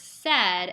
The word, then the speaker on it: said: conventionally so for example the words said s a i d the AI does as a student knows does not make the e sound it would make the a sound so that is